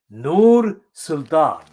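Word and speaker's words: Nursultan: former president of kazakhstan whose name is given here in a way that is not correct in linguistic terms but i shall pronounce it correctly noor sultan persian arabic mixture there persian arabic person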